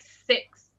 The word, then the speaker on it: six: though is that uh six is one of those words that is similar to this uh so the I is has kind of a a short sound so it's like six it's something in between an